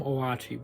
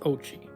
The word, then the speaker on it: Oatchi: Sorry, I still want to call him Oachi, but it's pronounced Ochi.